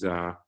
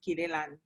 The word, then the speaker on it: Kiliani: Like Simonza says, my name is, it's actually pronounced Kilelan, but everybody calls me Kile.